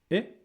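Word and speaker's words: へ: Then we have E or he pronounced E is a direction, right?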